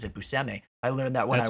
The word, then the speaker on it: Buscemi: i learned i also thought his name was pronounced buschemi but apparently he pronounces it buseme i learned that when i worked with him